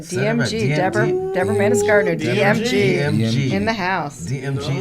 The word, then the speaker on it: Deborah Mannis-Gardner: Deborah Mannis-Gardner. Did I say that right? You said it right. DMG. Deborah Mannis-Gardner.